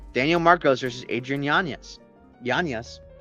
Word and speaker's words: Yanez: Yanez.